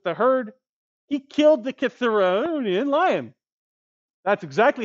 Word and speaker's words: Cithaeronian: And when he was 18 years old, out with the herd, he killed the Cithaeronian lion. That's exactly how you pronounce it.